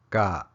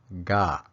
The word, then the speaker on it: ka: me show you so this is the subject marker and it's pronounced God or God I know it's hard